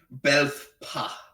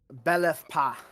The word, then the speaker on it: Belethpa: Belthpa. Belthpa. God damn it, Klingons. That's absolutely not at all how I pronounce it. Let me scroll back down. I liked your pronunciation more. Belethpa. Belethpa, yeah.